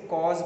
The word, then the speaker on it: corps: और दूसरा जो है इसको कॉज पढ़ा जाता है, एक्चुअली पी साइलेंट होता है इसमें, कॉज पढ़ा जाता है।